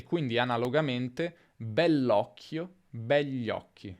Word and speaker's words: begli: Nella pronuncia è più comune dire begli occhi, gli occhi, senza dire quella I praticamente.